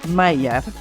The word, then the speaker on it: Maillard: apoyo Hoy estamos con Andrés Arce mayar se pronuncia así Andrés académico de vinculación